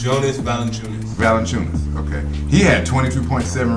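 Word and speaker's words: Valančiūnas: Jay Valanciunas? Jonas Valanciunas.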